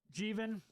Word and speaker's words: Jeevan: It's pronounced like Steven, but with a J instead. So, Jeevan. Jeevan, okay.